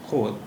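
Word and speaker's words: خود: इसका उच्चारण था खुद, यानी वाव की आवाज़ आती थी। लेकिन फिर धीरे धीरे इसका तलफ़ुज़ या प्रोनाउंसिएशन बदला और खुद हो गया।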